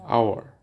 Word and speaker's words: hour: pronounced here honest and honor H is not pronounced and our h o u r our pronounce is O